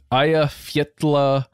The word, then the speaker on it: Eyjafjallajökull: The 2010 volcano is, I think, pronounced Eyjafjallajökull.